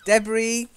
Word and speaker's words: debris: yeah debris mmm sorry debris silent s okay detritus are not